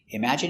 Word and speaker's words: imagine: Pronunciation, imagine. Im, ima. J. Strong sound, j. Image. Imagine. Imagine. Imagine. Stress on the second syllable.